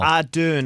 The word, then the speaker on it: Ardern: Ardern, I believe.